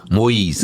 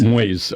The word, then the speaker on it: Moise: Pronounce that last name again. Moyes. Moyes.